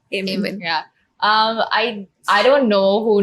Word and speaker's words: Aemen: It's Aemen. Amen.